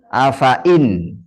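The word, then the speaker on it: أفإين: Kata afain. Maka ya-nya itu ada sifar mustadir di atasnya. A fa in. Di sini ada afa in. Ini enggak kebaca. Karena ada apa? Sifar mustadir.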